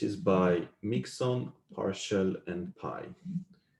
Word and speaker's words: Pai: This is by Mixon, Parshall, and Pai. I believe you actually pronounce this P, but I like Pi better for some reason.